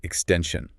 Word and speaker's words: extension: The next word is extension. Extension. Say that with me again carefully. Extension. Notice that the stress is on the middle part.